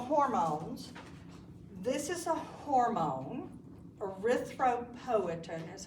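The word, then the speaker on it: erythropoietin: This is a hormone arythropoin is how you pronounce it.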